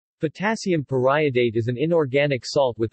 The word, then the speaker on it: periodate: salt of periodic acid note that the pronunciation is pariah date not period 8 unlike other common pariah